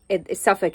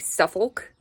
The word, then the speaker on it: Suffolk: So Chiswick is spelled like Chiswick, but it said Chiswick, and I always get laughed at. Suffolk is another one. It's like Suffolk, but then it's Suffolk.